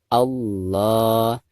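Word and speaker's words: الله: Perhatikan, ketika kita membaca lam jalalah di sini itu harus ditafkhimkan atau dibaca tebal ya. Karena sebelum lam jalalah tersebut ada huruf yang berharakat fathah yaitu a ya. Jadi dibacanya harus ditafkhimkan atau dibaca tebal. Allah. Jadi ketika kita mengucapkan la, maka ujung lidah kita harus menempel ke atas.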